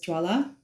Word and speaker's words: Jwala: My name is Jwalamukhi, also known as Jwala, rhymes with Wala with a J.